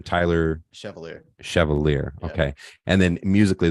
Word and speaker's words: Chevalier: want to miss say your last name Tyler Chevalier Chevalier okay and then musically though under the